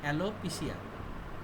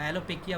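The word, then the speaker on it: alopecia: ট্রান্জিয়েন্ট অ্যালোপিসিয়া produce করে অ্যালোপিসিয়া বা অ্যালোপেকিয়া বলে অনেকে অনেক ভাবে উচ্চারণ করে অ্যালোপেকিয়া মানে হলো চুল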